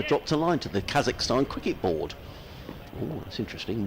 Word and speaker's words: Kazakhstan: Kazakhstan. Kazakhstan.